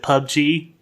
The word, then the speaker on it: PUBG: How do you do it? We got to get an answer. Is it PUBG? Is it PUBG? It is PUBG. It's PUBG. Okay.